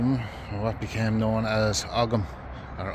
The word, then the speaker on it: Ogham: the sides of them, what became known as Ogham or Ohm, as some people like to pronounce them.